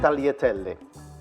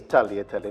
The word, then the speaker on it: tagliatelle: it's 200 grams of Tahlia telly in there and it is tagliatelle not tagliatelle you don't pronounce the G sorry I'm a bit